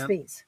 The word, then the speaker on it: Thies: Oh, see, Kent says, yes, we pronounce the farm Tees, the road with a TH. Tees. Okay, thank you. The farm is Tees. The road is Thies.